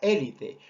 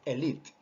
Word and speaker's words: elite: También hemos mencionado la palabra élite, aunque como te vuelvo a aclarar, la pronunciación correcta es elite.